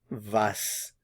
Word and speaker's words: was: say what in German vas vas notice the pronunciation of the W vas vas what vas in this